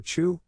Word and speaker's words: cu: high enough cumulus clouds or chew pronounce like the word q form glider pilots seek